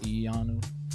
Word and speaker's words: Iyanu: I believe it's pronounced Iyanu, not Iyanu. So it's like if you're saying Keanu without the K.